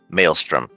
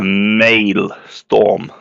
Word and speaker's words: maelstrom: hate saying this but it's uh pronounced Maelstrom more EMP on the a Maelstrom a male storm strum it's a male